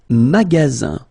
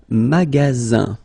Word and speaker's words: magasin: Le magasin. Le magasin. Okay, remember you've got only one S between two vowels. Then you get the sound Z, alright?